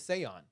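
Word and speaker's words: Seán: It's in Gaelic the pronunciation is Seon.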